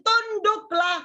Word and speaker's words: tunduklah: Tanduk apa tunduk ya? Tapi kebanyakan ada yang salah baca. Dia bacanya hai istri, tanduklah suamimu.